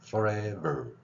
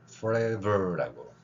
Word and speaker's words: forever: 자, 앞에 F 발음할 때는 마찰만 계속 일으켰죠. 여기 안 울리고요. forever 이렇게 뒤에 ver 발음. 그래서 피읍 대신에 그 아래에다가 작은 동그라미를 그려놓고 forever라고 표기를 한 겁니다.